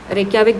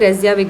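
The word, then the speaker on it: Reykjavík: इसकी जो कैपिटल है वो रेक्याविक या रेज़्याविक, मतलब प्रोनाउंसिएशन होता है, रेक्याविक भी बोल सकते हैं, रेज़्याविक भी बोल सकते हैं।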